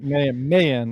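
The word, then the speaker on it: Mayen: then they're chasing and he sees Mayan, or Marin. they call him Marin. No, what did I say? I said Marin. Mayan. It doesn't matter. Mayan is how they pronounce it.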